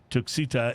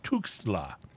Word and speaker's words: Tuxtla: I'm sorry, I mispronounced it. It's Tuxtla.